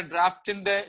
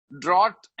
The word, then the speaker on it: draught: ഇവിടെ ഡ്രാഫ്റ്റിന്റെ spelling DRAUGHT ആണ് കേട്ടോ. ഡ്രോട്ട് എന്നാണെങ്കിലും ഉച്ചാരണം ഡ്രാഫ്റ്റ് എന്നാണെന്ന് നിങ്ങൾക്കറിയാമായിരിക്കുമല്ലോ. The original ഡ്രാഫ്റ്റ്, DRAUGHT, the original ഡ്രാഫ്റ്റ് of essential Christianity.